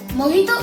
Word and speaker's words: mojito: Cuba is Spanish, and in Spanish, J is pronounced as H.